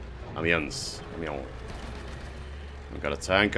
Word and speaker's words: Amiens: Amiens, I think you say it like that. Amiens.